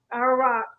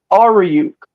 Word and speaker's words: Aoriuk: Aoriuk. How you have it on your social media? Pronounce it for me. Oh, Aoriuk.